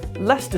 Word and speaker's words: Leicester: But even though London itself is derived from the Roman settlement Londinium, Lester Square, what the is that spelling?